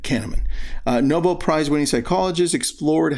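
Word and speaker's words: Kahneman: Canaman is spelled K A H N E M A N. Canaman uh Nobel Prizewinning psychologist explored how emotions influence decisionmaking.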